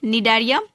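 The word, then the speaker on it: Cnidaria: ठीक है, जिसको कि फाइलम निडारिया भी कहते हैं, जहाँ पे सी साइलेंट है इसीलिए इसको निडारिया कहा जाता है।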